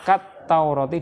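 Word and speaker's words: كَالتَّوْرَاةِ: Kita membacanya kat-taurati, diperlihatkan tasdiknya biar beda dengan Taurat, kan ada alnya gitu.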